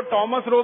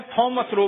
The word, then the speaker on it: थॉमस रो: था उसका नाम था थॉमस रो। अंग्रेज उसको टॉमस रो भी कहते हैं, थॉमस रो भी कहते हैं, दोनों उच्चारण उसके नाम के हैं।